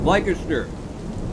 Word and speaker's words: Leicester: It's Leicester is what it is, and you guys need to start pronouncing it correctly.